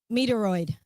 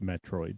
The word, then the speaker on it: Metroid: And that's funny because Ren's put in the chat um Meteoroid because that's an old game, too. But that was not that was not It's pronounced Metroid.